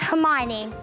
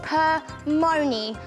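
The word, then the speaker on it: Hermione: stage with her presence my name is herione a professor once called me permy I don't like it when people get my name wrong I study at Hogwart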